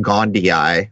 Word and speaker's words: gondii: But anyhow, Jason, as you pick up, I think the Latin you're about to have to say is pronounced Gondii with the double I on the end there.